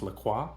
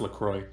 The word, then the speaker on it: LaCroix: in French, I believe it's French, it is pronounced LaCroix, right? Mm-hmm. And the creator of the drink was like, "Nah, it's LaCroix."